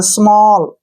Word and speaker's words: small: ए के बाद अगर डबल एल आए तो ओ का उच्चारण करना है, ओ, ऐसे। जैसे नेक्स्ट है FALL, फॉल, SMALL, स्मॉल, STALL, स्टॉल, TALL, toll, WALL, वॉल, BALL, बॉल।